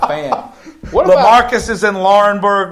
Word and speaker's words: Laurinburg: Laurinburg, yep.